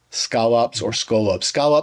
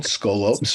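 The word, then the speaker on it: σκόλοψ: argument that this thorn, this scolops for Erasmian pronunciation, scolops for modern pronunciation.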